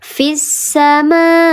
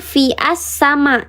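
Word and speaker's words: في السماء: Contoh fissama fissa dibacanya bukan fi assama tapi fissa.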